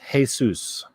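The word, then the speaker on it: Jesús: His first name is pronounced Jesus.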